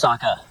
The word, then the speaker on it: Sokka: My name's Sokka. Rhymes with Akka.